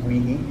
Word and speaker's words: Weihe: It's actually pronounced Weehee. Okay, Weehee. Think of a roller coaster.